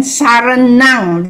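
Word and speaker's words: saraṇaṃ: Then Saranang, because the M with the dot is NG.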